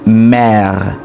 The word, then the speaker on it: mère: The word mother is the word mère, la mère, ou ma mère, right?